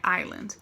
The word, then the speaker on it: Island: Island, não pronuncia o S, não fala Island, tá? Island.